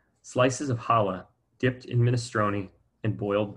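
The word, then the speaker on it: challah: rice slices of ooh looks like chala but it's pronounced hala slices of hala dipped in minestrone and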